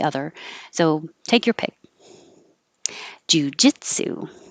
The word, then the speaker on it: jiu-jitsu: so take your pick jiu-jitsu one two three jujitsu it's the same pattern as banana in case you're wondering why bananas over here um jiu-jitsu okay that's it thank